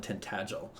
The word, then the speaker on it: Tintagel: impossible to pronounce yeah I always imagine it was like tinel in my head but yeah I was thinking terel and tinel but no it's terel and tintagel okay awesome cool yes